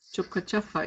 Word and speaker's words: Chokachafa: on page 110, and it's going to be spelled with the first A in Achafa, Choka Achafa, 2 words. But in pronunciation, you don't hear the A in Achafa, Chokachafa. You only hear one A at the end of K.